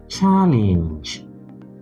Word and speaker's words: challenge: Here we have challenge. Challenge. No challenge in English. There is no challenge in English. So whether it is a noun or a verb, it is always stressed on the first syllable.